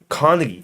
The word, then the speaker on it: Carnegie: I didn't didn't hear I was like Carnegie Car like like like like the hall.